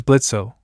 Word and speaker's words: Blitzo: a better one Blitz my name is blitzo but the O is silent eay well it's a